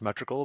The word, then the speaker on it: Metrical: It's pronounced metrical, but it's the L domain.